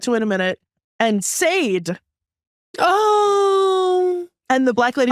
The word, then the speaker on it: Sade: You better learn how to pronounce Sade. I don't. Oh boy. Well, and then she came running back in, and she was like, no. And the white lady was like, did I get something wrong? And she was like, yeah, she was like, time. It's Sade.